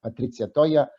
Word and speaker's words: Patrizia Toia: I would like also now to hand over the floor to Honourable Member Patrizia Toia. I pronounce her name very well because she is in Italian.